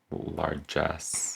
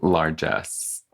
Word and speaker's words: largesse: Like largesse. Yeah. Larges. Watch it be like something so... Are you Googling it right now? I'm so fucking Googling it right now. Can you do the pronunciation thing? Largesse.